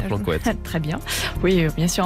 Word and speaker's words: Plancoët: Excellente eau minérale à Plancoëtte.